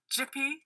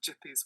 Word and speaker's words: Gipi: this is a Creator called jippy I think that's how you pronounce it so it's g-i-p-i it's an Italian cartoonist